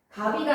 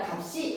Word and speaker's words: 값이: 연음 법칙에다가 줄 어떤 경우에 뒤에 모음으로 시작하는 형식 형태에서 왔을 때 흑을이 아니라 글 갑이가 아니라 값이 하고 그대로 연을 해야 돼.